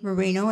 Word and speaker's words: Marin: And when the Americans came, they didn't understand the accents of the Spanish, and they pronounced it the name as they saw it, Marin.